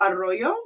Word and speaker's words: Arroyo: Is it Arroyo? Is that how I pronounce See, your last name?